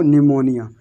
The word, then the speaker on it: pneumonia: जैसे यहाँ पर लिखा हुआ है PNEUMONIA, तो यहाँ इसको यहाँ से आपको P से नहीं पढ़ना है, क्योंकि P हमारा क्या है? साइलेंट है। तो आपको सिर्फ पढ़ना है N से, NEUMONIA। इसको सिर्फ पढ़ना है आपको निमोनिया, N से पढ़ना है।